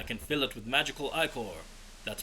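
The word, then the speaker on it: ichor: tropel chalice I can fill it with magical iore that's pronounced I core choose your iore wisely uh yeah so we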